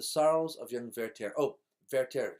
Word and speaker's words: Werther: of young verter oh verter spells with a W in German pronounced with a V th is pronounced as a t ver the Sorrows of